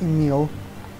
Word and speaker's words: Nier: ruins attraction square all right apparently it is pronounced Neil whenever I've heard it in the context of